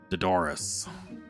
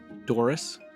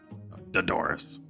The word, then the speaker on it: Dodoris: My name is Dodoris. Doris? Dodoris. Doris? I'm sorry, I'm not. Yes, that is correct. Doris. It's like Dolores, but with a D.